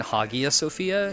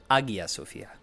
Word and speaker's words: Hagia Sophia: Also, Sophia really said, like, I've been saying Hagia Sophia. She had so much subtler of an H. She was like, Hagia Sophia. I've been saying it wrong, I think.